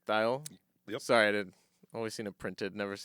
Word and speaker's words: Thayil: goes hey this is B ban and Kim thyle we're uh I'm saying that right thyle yep sorry I always seen it printed never